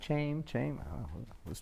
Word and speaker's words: Chaim: I just want to know why it's spelled C-H. How do you want to do Ch? There's no Ch. Only in Spanish, there's a J.